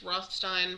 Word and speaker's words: Rothstein: I'm assuming it's Rothstein because in German pronunciation, the last vowel is the vowel sound you use. So since this is an EI, that would be a Stein.